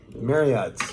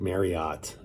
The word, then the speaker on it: Marriott: fairfield by marriott um marriott rhymes with chariot if you want to say it properly uh but everybody just calls it marriott um fairfield is one